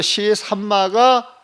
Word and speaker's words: 시삼마: 시산마라고 읽어야 돼요. 시산마라고 보면 무엇이라고 하는 의미를 가질 때는 삼이라고 읽어야 돼요. 심이라고 읽을 때는 심이 노모 부사로 써요. 부사 보면. 그래서 무엇이라고 하는 의문을 가질 때는 삼이라고 읽어야 되고, 그래서 시삼마가 옳아요.